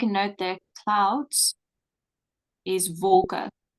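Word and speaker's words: wolke: um so make a note that clouds is vulka w l k e that's clouds yes that's clouds and you pronounce it vulka V okay all right um let's see so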